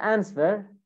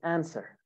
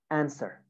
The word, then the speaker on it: answer: is wrong it's not answer it's answer the w is silent actually answer burned burned normal eating